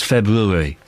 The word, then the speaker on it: February: of February at 3:00 there is an R there that you should pronounce it's February the R's there why not say it lot and town